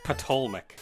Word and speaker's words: Ptolemaic: Even though it starts with the P, so we pronounce it with the T. Ptolemaic.